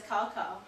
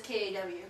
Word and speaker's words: Cao: You put someone's name as Cao, in America that's pronounced cow. That's like that's Cao Cao. We're gonna call you Cao Cao. Which is why you're not supposed to spell it that way. In Chinese, you actually pronounce it as Kaw.